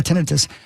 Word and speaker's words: tinnitus: Tinnitus? Tinnitus? How do you say? Yeah, tinnitus.